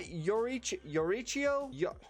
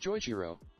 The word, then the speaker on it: Joichiro: Next, we've got Yorichio. Oh my god. The dad of Soma from Food Wars. I'm sorry, I don't know how to say his name. Here you go. Joichiro.